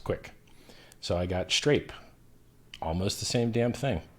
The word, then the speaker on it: Strape: But for some reason, when I tell people Strape, they can't spell that shit. And then I say Strape, S-T-R-A-P-E. Yeah, street rape, I'm familiar. So strawberry grape, I'm like, yeah, Strape, like strawberry grape.